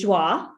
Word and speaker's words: Joie: you pronounce it is joi yeah right this is french and for everyone for everyone listening that is spelled j o i e so if you